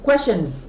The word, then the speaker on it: questions: Et puis, troisième mot, nous avons questions. Questions. Parce qu'il y a S à la fin. Questions. Alors, je vous avais dit, S à la fin d'un mot en anglais, ici, ça se prononce comme Z.